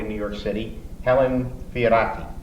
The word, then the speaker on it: Fioratti: New York City, Helen Fioratti. How do you do? Is that pronunciation okay? Yes, it's perfect. With the Italian rolling of the R, and Madelon Talley.